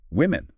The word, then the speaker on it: women: subtle but important very women plural stories from women. That O sounds like a short I like in win. It's not like the O in woman singular which is more like would.